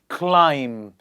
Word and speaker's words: climb: in front of us where the B is silent I'm going to pronounce it you have to repeat after me are you ready let's get going together bomb please repeat after me bomb climb so many people say